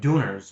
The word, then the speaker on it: döner: Europe is Turkish food, döners. I think they're called döner, if I'm pronouncing that right. D-U with like the two dots above it, and then N-E-R, the Turkish döner.